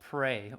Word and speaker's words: Prey: Called Pray. Ooh, it's so good. But it's spelled Prey, but they talk it like pray, like AY.